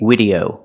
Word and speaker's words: video: Then watch this video to the very end. I cannot say video, video. You use the letter V, so you have to make the V sound.